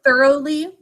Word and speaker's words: thoroughly: those and or and we're going to we pronounce the word thoroughly so we're also going to put a thinking